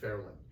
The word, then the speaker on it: Fairyland: And they were working at Lookout Mountain, Chattanooga at the time, which was then called Fairland, which is spelled Fairyland, but pronounced Fairland.